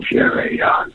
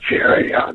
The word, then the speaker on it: Furyon: You know, it's got that nice little 3-syllable thing going on. Furyon, Furyon.